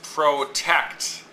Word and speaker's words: protect: So in this case, it's protect. The tect is the stressed part of the syllable.